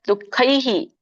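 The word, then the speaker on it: ದುಃಖೈಃ: ಸಮುದ್ಭವಾನ್ ಜನ್ಮ ಮೃತ್ಯು ಜರಾ ದುಃಖೈಹಿ ಸೋ ಇದು ನಿಮ ಎಲ್ಲರೂ ಹೇಳಬಹುದು ಅಲ್ಲಿ ದುಃಖೈಹಿ ಅಂತ ವಿಸರ್ಗ ಇದೆಹ ಕೂಡ ಐಹಿ ಐ ಉಚ್ಚಾರಣೆನೇ ಬರಬೇಕು ವಿಮುಕ್ತೋ ಇನ್ನ ಬಿಡಿಸಿದಾಗ ವಿಮುಕ್ತೋ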